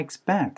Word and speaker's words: expect: 그래서 how soon can I expect 해서 제가 언제까지 기대할 수 있을까요? That marketing report를요 라고 얘기를 하는데, 자, 일단 여기서 발음적인 부분에서는 expect 할 때 PEC에다가 강세가 꽝 하고 찍혀야 돼요.